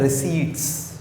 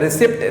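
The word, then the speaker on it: receipt: रिसीट में भी पहली बात पी जो है वो साइलेंट है, रिसिप्ट नहीं कहते इसको। जो कोई रिसिप्ट कह रहा हो तो वो भी गलत कह रहा होता है। जिसकी प्रॉपर टर्मिनोलॉजी है वो क्या है? रिसीट है।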